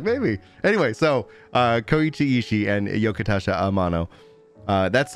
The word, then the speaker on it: Koichi Ishii: is there a right click option how to pronounce read aloud section koichi ishii koichi ishii oh thank you internet listen here and and